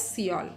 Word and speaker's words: Seoul: So just you have to include that E and pronounce it as Seoul.